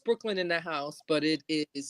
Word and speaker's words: BKLYNNDAHSE: On Instagram, it's pronounced Brooklyn in the House, but it is spelled out BKLYNNDAHSE.